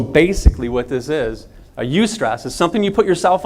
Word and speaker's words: eustress: There's a different type of stress, and it's called a eustress.